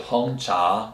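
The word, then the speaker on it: 红茶: go to black tea black tea in chinese is called han cha both are two second tones a lot of second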